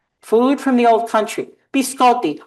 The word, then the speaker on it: biscotti: Biscotti. Oh, please don't say biscotti. Please don't say biscotti. It's biscotti.